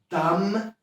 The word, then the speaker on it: dumb: Dam, czyli ostatniego B, ostatniej literki nie wymawiamy.